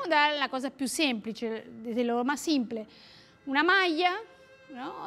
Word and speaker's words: maglia: ¿Vieron que, bueno, nosotros acá en Capital pronunciamos, por ejemplo, malla, lluvia?